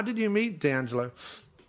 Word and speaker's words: D'Angelo: just, I don't know if that's how you pronounce his name, D'Angelo, is it? D'Angelo Midili? Yeah, it's D'Angelo.